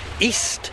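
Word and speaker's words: EEST: They also have a restaurant called East, I believe it's pronounced, E-E-S-T.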